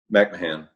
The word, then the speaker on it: McMahan: Again, it's McMahan. I'm pronouncing your last name right, I hope? McMahan.